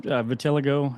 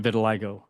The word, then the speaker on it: vitiligo: So some people pronounce it vitiligo and some people pronounce it vitiligo. So I guess it's just you know tomato tomato.